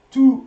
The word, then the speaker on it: tous: Tous les jours. You don't pronounce the S here.